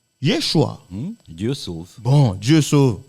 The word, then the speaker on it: Yeshua: on l'entend entre nous qui se prononce normalement Yeshua Dieu sauve bon Dieu